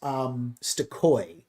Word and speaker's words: Stokoe: Where you talked about James Stokoe.